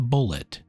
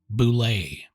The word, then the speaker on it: Bulette: Cass gave the creature a French pronunciation, Boule, playing off the heraldic term bullet for a cannonball depicted on a coat of arms. He later joked that pronunciation came from Macandarin, the language of his homebrew campaign setting.